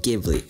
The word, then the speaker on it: Ghibli: ghibli film spirited away ghibli ghibli shut up it's pronounced ghibli okay anyway this movie